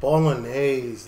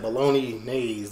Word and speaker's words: Bolognese: Bolognese, that's how you pronounce it. I said bologna nays when I tried to put, I don't know, anyway.